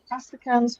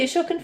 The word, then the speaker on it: Ashokan: I also love Astrakhan's Farewell. I think you played before. Oh, the Ashokan Farewell. Ah, I pronounced it incorrectly.